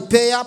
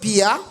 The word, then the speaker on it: peer: out of ten but he failed to pronounce the word pia and he said paya you said they were the payer pressure instead of peer pressure then fatih would get